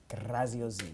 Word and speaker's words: Graziosi: Did I say it right? Graziosi, yeah.